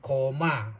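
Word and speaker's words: Colmar: ที่ เมือง โคน มา พวก เรา ไป ออก เสียง ว่า เมือง โคม่า เมอง โคม่า c o l m a r ก็ โคม่า นั้น ที่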